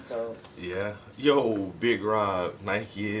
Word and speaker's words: Nike: yeah yo Big Rob Nike is is supposed to be Nike yeah exactly that's how we say it Nike Nike not Nike or Nik a or it's Nike and I don't know I've